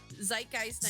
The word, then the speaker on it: Zeitgeist: the music uh zid jess is how's your pronounce zeitgeist zeitgeist good chess sorry shush um and then here's